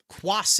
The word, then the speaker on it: Cuas: Let me see if there's the pronunciation. Cuas. Cuas is his name.